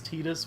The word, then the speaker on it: Tidus: Oh, and Titus was in Kingdom Hearts, and they referred to him as Titus, which is really how he would be pronounced. Mm-hmm. But that is the still butthurt. dumbest name, sounding name. Like, oh my god. But that is actually how it would be pronounced. You know, like Japanese wise.